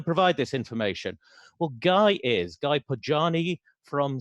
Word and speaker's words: Podjarny: Well, Guy Podjarny from Snyk. Guy, did I pronounce Podjarny correct?